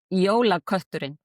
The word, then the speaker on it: Jólakötturinn: Jólakötturinn.